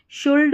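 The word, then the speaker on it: should: शुड, वुड या cooled नहीं पढ़ते। शुड, वुड, कुड पढ़ते हैं। एल साइलेंट है इन स्पेलिंग्स में।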